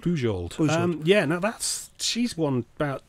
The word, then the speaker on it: Bujold: Was it Beald or Bujold? Bujold.